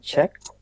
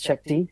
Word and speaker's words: cheqd: the CTO and co-founder at Czech not pronounced as Shakti which some people do and we are a